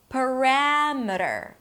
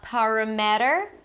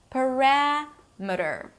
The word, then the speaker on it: parameter: Parameter, not parameter. The stress falls on the one syllable before the suffix, and suffixes are usually reduced. Parameter.